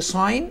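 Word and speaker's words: sign: عندي ساين، ساين يعني لافته او علامه، وهنا الجي سايلنت.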